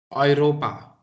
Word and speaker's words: Europa: so this EU, okay, this EU, it is pronounced as OI. Oi. So, what would be the pronunciation of this word? Europa.